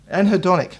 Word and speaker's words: anhedonic: Anhedonic. Anhedonic, there we go, is the inability to feel pleasure in normal pleasurable activities.